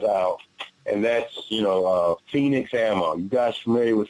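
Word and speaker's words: Fenix: There is one person who stands out, and that's, you know, Phoenix Ammo. You guys familiar with Phoenix? Oh, no. And it's spelled F-E-N-I-X Ammo.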